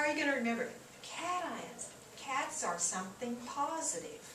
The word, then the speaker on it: cations: notice the pronunciation here in english usually a tion is like a shun sound vacation that kind of thing cat ions because you want to emphasize the ions so anions cations anybody